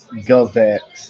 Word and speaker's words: GOVX: Phoenix obviously anytime there's a big check involved especially here at Phoenix Gulvex.